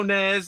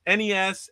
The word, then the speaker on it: NES: And of course, we went on to NES, not that other word that Krispy and a and Pierre, I heard Pierre say it. Uh, you know, no NEZ, no SNES, NES, SNES, or Super Nintendo.